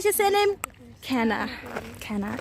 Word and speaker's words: Cana: Cana. Cana. It's spelled Cana, guys.